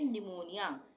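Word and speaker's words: pneumonia: होगा इसको हम बोलेंगे निमोनिया पी एन ई यू एम ओ एन आई ए इसको पिनोम नहीं बोलेंगे इसको बोलेंगे निमोनिया निमोनिया ये है ना निमोनिया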